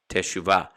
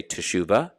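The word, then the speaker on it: תשובה: slammed together as chuva teshuva so again you'll hear people say teshuva yohi people pronounce teshuva or they'll even say it faster juva again it all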